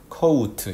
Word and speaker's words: coat: 그런데 coat 이런 식으로 중간에 오우하고 이렇게 발음을 하게 되면 100% coat로 알아듣습니다.